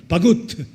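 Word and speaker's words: 바굿: 히브리 발음은 바구트입니다. 바구트.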